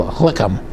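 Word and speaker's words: לחם: Then our final uh word we want to go over is called lechham. Leam. Okay. So that's like a guttural sound lechham.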